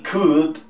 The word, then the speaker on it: could: Estos otros, lo que es would, should y could, nunca se les coloca en la pronunciación la L. Would, could y should, todos sin la L.